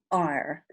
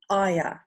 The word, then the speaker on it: ire: I say ire. Some people say aya.